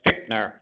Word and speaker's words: Fichtner: It's Fichtner. That's why I told Missy she mispronounced it earlier.